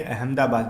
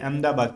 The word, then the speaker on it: अहमदाबाद: अहमदाबाद, ठीक है, अहमदा नहीं, हम लोग हा को पढ़ते हैं, वो लोग हा को साइलेंट कर देते हैं, अहमदाबाद पढ़ते हैं, ठीक है, अहमदाबाद में, तो हम लोग क्या पढ़ते हैं?